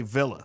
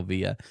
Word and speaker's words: Villa: because it's America and we say Villa so y'all settle in in the comments is it Taco Villa or Taco Via and I want y'all to know I will gladly with every whichever one pronunciation wins I'll settle the case there but y'all got to be be willing to do the same I will never call it via I will die on